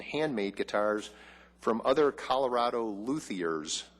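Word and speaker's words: luthiers: guitars from other Colorado luers, I believe, is the correct pronunciation.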